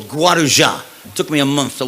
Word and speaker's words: Guarujá: happening at a home in a place called guarujá took me a month to learn how to pronounce that guaruja and my father calls me and says why